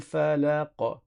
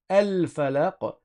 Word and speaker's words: al falaq: Le alif ici, c'est un alif de liaison. Quand on a alif lam, le alif, on ne le prononce que quand on commence la lecture par ce alif. Si j'avais lu le mot tout seul, j'aurais dit al falaq et j'aurais prononcé le alif.